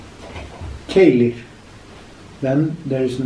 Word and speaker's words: Keilir: It is Keilir. Keilir.